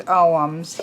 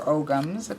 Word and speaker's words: Ogham: Like, I know that this is oghams here, or ogams, but they're supposed to be pronounced oghams.